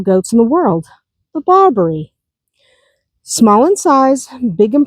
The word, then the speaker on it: Barbari: Then there is the Barbarie. Emphasize emphasis on the last syllable.